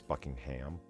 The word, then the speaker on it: Buckingham: for jubilee okay why that's how the british pronounce it by the way it's buckingham a massive sculpture made